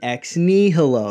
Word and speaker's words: ex nihilo: video here Stephen has some complaints about creation ex nihilo that's how you're supposed to pronounce it creation out of nothing if you're